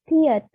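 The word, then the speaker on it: 티읕: Lalu ada tiet, seperti huruf E ya kalau di abjad Romawi, tapi dia ini T dibacanya.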